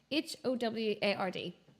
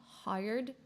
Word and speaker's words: Howard: to pronounce the name h o w a r d cuz I want to say hired but it should be Howard but anyway um and